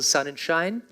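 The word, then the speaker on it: Sonnenschein: me will be Michael son and shine easy pronunciation of his last name Sun and shine next to him we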